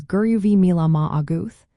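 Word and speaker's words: go raibh maith agat: The pronunciation for this phrase is guru vi auth.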